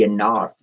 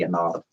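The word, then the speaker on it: Ennead: They're the Anad. E N E A D. The Anad or some people say they pronounce it differently. I pronounce it the Anad.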